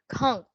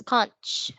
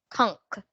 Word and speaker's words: conch: your own what do you think so it's pronounced as conk please repeat after me conk so it means